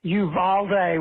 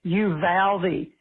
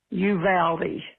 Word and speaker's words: Uvalde: know that here in texas we don't say uvalde we say you valdi it reminds me of you pal me you know it rhymes you valdi please correct thank you i